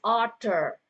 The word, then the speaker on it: author: There is an author at the end, but the R is silent. Okay. Silent itu maksudnya tidak terlalu kentara saat diucapkan. Okay. Most of the English with the R towards the end is going to be silent.